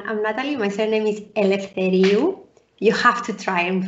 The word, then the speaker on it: Eleftheriou: say hi everyone i'm natalie my surname is elf teriyu you have to try and pronounce it i even just heard you say